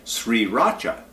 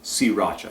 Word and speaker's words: Sriracha: on all these bottles it has that off that silent are in there so most people and myself included when I first read this I thought Sri Racha sauce but apparently the pronunciation everywhere is si Racha sauce but in the sovereignty